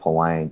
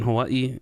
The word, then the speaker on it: Hawaii: I've heard Hawaii, or that's the if you're saying, I believe if you're saying it in like a native Hawaiian aspect, it is Hawaii because the W is pronounced as a V.